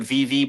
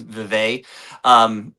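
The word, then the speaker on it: Vevay: They call it VV, but I think it's supposed to be pronounced Vevey, like named after the Swedish town.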